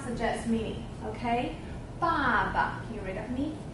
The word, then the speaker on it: 爸爸: Okay, and the bottom part, when it stand alone, it means, it's pronounced as ba. So it suggests sound. Suggests sound, suggests meaning. Okay? Baba.